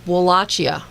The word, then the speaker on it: Wallachia: uh within Transylvania um wallachia I think is how it's pronounced but we find out